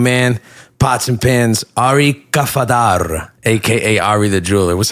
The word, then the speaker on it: Kafadar: with my main man pots and pin Ari kafadar AKA Ari the Jeweler what's happening baby how's everything bro did I pronounce that right oh you got it kafadar yes sir well thanks for coming man it's